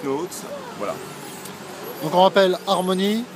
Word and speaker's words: Harmon.ie: Donc on rappelle Harmony. Harmony, Harmo.ie. mon.ie. Voilà, qui se prononce Harmony.